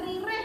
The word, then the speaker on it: ririh: Kemudian baris yang ke-6, yaden ririh, tulisannya ririh, bacaannya rireh anak-anak. Walaupun tulisannya ririh, tapi anak-anak tidak menyebutkan ririh.